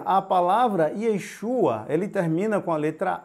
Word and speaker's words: Yeshua: diferente então o que acontece em hebraico você pronuncia Yeshua por em aramaico você pronuncia e eixo tá